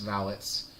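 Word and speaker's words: valets: traveled with their employers and yes it is pronounced valits valet is the people that park your car vallets are the people who uh who are like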